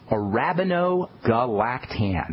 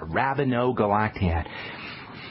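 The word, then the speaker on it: arabinogalactan: formulations it's got anti- wrinkle benefits it's called a Rabino galaan and that's spelled a r a b i n o g a l a c t a n Rabino galaad it's got lots of good literature to support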